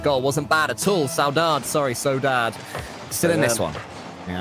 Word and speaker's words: SAUDADE: SAUDADE, they told us.